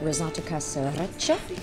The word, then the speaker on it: risotto casereccia: I ordered the risotto casereccia, according to Luca, that's how I pronounce it.